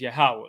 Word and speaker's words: Yahweh: there was only consonants y h w h and in its pronunciation in the lash is yahweh so when we refer